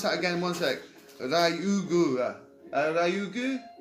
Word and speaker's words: Ryugu: Ryugu. It's spelled R-Y.